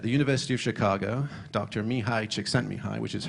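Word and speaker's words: Csikszentmihalyi: that because at the University of Chicago doctor me hide checks sent me high which is how you spell that mouthful of a name at the bottom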